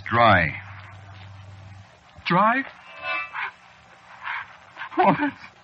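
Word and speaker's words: Drei: that ain't doing well you spell it see what oh you see it's a German name is it yeah sure spelled d rei it means three you know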